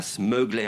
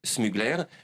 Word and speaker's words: Smugler: Alors, vous ne prononcez pas Smuggler à l'américaine, non. C'est Smugler.